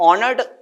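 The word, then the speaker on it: honoured: ऑनर्ड में हमारा H silent है। और जब एच साइलेंट है तो ये ऑनर्ड बोलेंगे।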